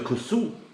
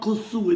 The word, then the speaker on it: kusksu: So in goes the kusksu. And I know I'm not pronouncing that right, guys. It's Steve, it's not kusksu, it's kusksu.